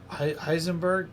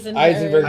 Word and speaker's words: Eisenberg: where Heisenberg, is that how you say it? Eisenberg, Jesse Eisenberg.